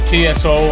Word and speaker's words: Tso: All right, so TSO, everybody can, you know, pronounce it different, Tso or whatever, whatever you want to call it. But there's the spelling there. General Tso chicken, that's how I was told it was pronounced.